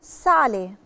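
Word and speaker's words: sale: اقرا واسمع يعني ملح سالي سالي سالي ونطقنا فيها الاس صريحه سالي صودا صودا صودا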